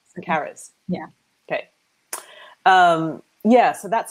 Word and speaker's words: Charis: Is that how it's pronounced? Now thinking about audiobooks. Charis. Charis.